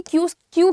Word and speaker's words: queue: मुझे लगता था कि क्यू की स्पेलिंग ये होनी चाहिए, लेकिन इट इज QUEUE, ठीक है। सो क्यू इज द प्रोनाउंसिएशन, पंक्ति को अंग्रेजी में कहते हैं क्यू।